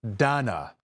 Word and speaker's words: Dana: Dana Bash, pronounced Dana there, reassuring viewers that CNN does not, in fact, hate America.